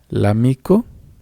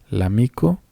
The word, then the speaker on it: l'amico: Se va a leer como si fuera una sola palabra.